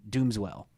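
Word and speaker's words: Doomswell: people that don't know our name doesn't mean like doom swell it's pronounced dooms well so it was actually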